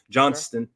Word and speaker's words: Johnston: go with Quentin Johnston Johnston let's say it right quick quick Johnston yeah John's to be killing me bro I see the T and I struggle but uh big play